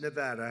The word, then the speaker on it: Nevada: I want to come to a state known as Nevada. Has anyone ever heard of it? And don't ever mispronounce the name.